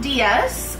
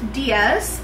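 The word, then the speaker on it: Dias: So, it's pronounced Diaz um just as you know, but it's spelled in the Portuguese version because my my background is Portuguese. So, it's spelled D I A S pronounced Diaz.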